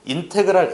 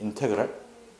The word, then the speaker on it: 인테그랄: 그리고 읽을 때는 인테그랄 a에서 b까지 fx dx라고 읽어 주면 돼. 요건 한 번만 다시 읽어 볼게. 인테그랄 a에서 b까지 fx dx.